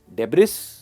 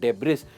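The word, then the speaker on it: debris: डेब्रिस, इसकी सही pronunciation है डेब्री, डेब्री, डेब्री एंड नॉट डेब्रिस।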